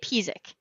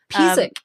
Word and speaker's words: Pisek: How do you say it? You say it Pisek. Pisek.